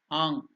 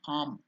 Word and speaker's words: Ang: it can be told the correct pronunciation is it should go and stay in the nasal sound Ang some people when they are doing slowly it is coming to an end it will become arm especially in central India